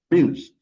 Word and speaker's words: amuse: in fact you see so the a in amuse is super short just amuse it's not pronounced very uh loud just almost silent so times we have